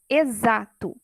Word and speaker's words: exato: Exato, letra X, porém fonema Z.